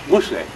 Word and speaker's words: Mosay: And he said, no, it's Mosay.